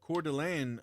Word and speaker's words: Coeur d'Alene: Maybe, but it's Coeur d'Alene.